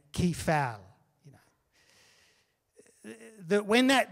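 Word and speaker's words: κεφαλή: uh head which is key foul you know it's you can pronounce it anyway because it's ancient greek so i'm just pronouncing it key fal you know that when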